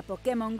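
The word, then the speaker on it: Pokémon: mágicas asegúrate de que nadie te escuche pronunciar pokemon se van a reír igual que nosotros nos reiríamos escuchásemos pokemon que es como lo pronuncian ellos pero esta vez no os voy a aconsejar seguirles la corriente y es que pokemon tiene tilde en like perderéis unos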